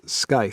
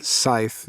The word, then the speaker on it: scythe: for that right and i thought it was sky for the longest time it's not pronounced sky i didn't i didn't know isn't it isn't it scythe yeah scythe um so